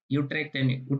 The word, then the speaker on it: Utrecht: Utrecht University, because U is pronounced as U in Dutch.